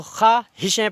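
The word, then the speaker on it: خواہشیں: है, जैसे हज़ारों ख्वाहिशें, तो ख्वाहिशें पढ़ते हैं, खा के बाद में अलिफ पढ़ते हैं, वाव को नहीं, इसलिए खा जो पढ़ते हैं तो उसको मुफ़ा के वज़न पे पढ़ते हैं।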